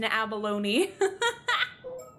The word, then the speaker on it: abalone: in the dictionary and it is indeed pronounced abalone. Oh man.